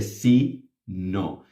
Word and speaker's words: sino: one confused is the C no same pronunciation written differently causes a stupid amount of